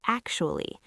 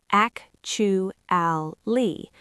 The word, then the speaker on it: actually: achu ali, but natural English speakers usually compress it into three syllables and sometimes even two and a half.